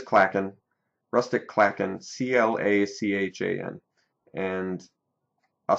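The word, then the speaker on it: clachan: us the pronunciation too so it's uh CLA gun clacken so it is clackin rustic clackin c-l-a-c-h-a-n and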